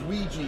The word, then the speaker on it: Ouija: Her name was Ouija, like the Ouija board.